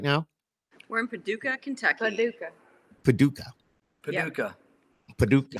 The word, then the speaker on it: Paducah: We're in Paducah, Kentucky. Paducah. How do you say it? Paducah.